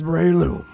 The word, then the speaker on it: Breloom: The name is Breloom. It rhymes with doom.